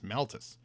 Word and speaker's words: Malthus: How do you pronounce that? Malthus. Malthus. And so he's basically here to say, guess what, Hawk?